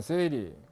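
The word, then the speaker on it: 整理: OS라는 것은 정리정돈 청소 정결 습관인데, 일본어로 발음을 하면 정리는 세이리, 정돈은 세이돈, 청소는 세이소, 청결은 세이게츠, 습관어는 시쯔게, 시쯔게 이렇게 읽습니다. 그래서 OS입니다.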